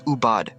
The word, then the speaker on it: Ubud: most popular destinations in Bali Ubud is pronounced as ubad which means medicine spiritual